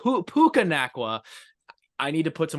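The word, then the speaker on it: Puka Nacua: getting his name right it's not pukaa it it's p pukaa I need to put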